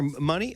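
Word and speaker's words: Munie: And Daniel, do I pronounce his name right? Is it Muni or Money? I'm sorry. Muni.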